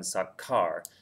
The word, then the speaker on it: sacar: The problem with that is if you wrote that word down, it would be pronounced sase, and that doesn't keep the k sound that you have in sakar.